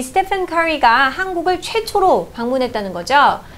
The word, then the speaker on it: Stephen: 우리가 이제 보통 이렇게 스티븐이라는 발음으로 스티븐이라고 하는데 스티븐 혹은 스테픈 이렇게 F 발음을 사이에서 읽을 수도 있죠. 선생님이 알기로는 커리 자신이 스테픈이라고 불러달라고 했기 때문에 우리는 스테픈 커리라고 읽도록 하겠습니다. 자, 이 스테픈 커리가 한국을 최초로 방문했다는 거죠.